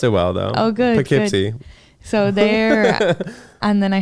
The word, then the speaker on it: Poughkeepsie: now I'm going next place I'm gonna is Poughkeepsie on Friday oh wow so it's Poughkeepsie it's